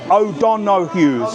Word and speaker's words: O'Donoghue's: O'Donoghue's. Oh dear. So you have to say it fast.